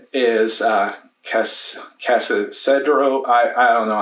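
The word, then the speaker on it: Cascadero: My number 9 is Casadero. I don't know how to say it, but Bitewing Games. It's Cascader.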